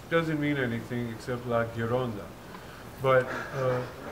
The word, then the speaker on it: gironda: mean anything except la gironda but if you were to pronounce it incorrectly instead of ghi just gi it would be jiron and because when you